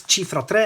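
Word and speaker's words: Cifra Tre: So the way to pronounce this is Chifra Tre, as I've said a couple of times already.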